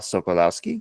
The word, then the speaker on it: Sokolowski: And we have with us today as well Miss Solowski. Did I pronounce that correctly?